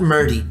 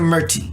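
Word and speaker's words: Murthy: it's deserving of it it's hearty tea not murdy but tea shania murty i'm gonna play a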